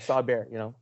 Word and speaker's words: Bexar: We'll put a link to Rod's, the Bear County Bigfoot, even though it's spelled Bexar.